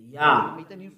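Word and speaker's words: יה: How to pronounce it? Yah. According to the Hebrew, when you see this word, it is read Yah in Hebrew.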